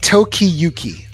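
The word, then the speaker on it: Tokiyuki: me let me get the exact pronounce y pronounce uh Toki Yuki yeah Toki Yuki that he realizes and more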